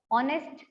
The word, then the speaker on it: honest: शुरू होते हैं, and H is a consonant, but H is silent. So हमारा word जो है वो एक vowel से हो जाता है, like are, honest, higher.